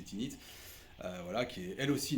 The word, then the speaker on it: Tanit: par tinite parler de tanites et du signe de Tanith mais en fait il faut prononcer tinite voilà qui est elle